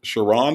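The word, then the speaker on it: Sherrone: Shiron Moore is how you say his name.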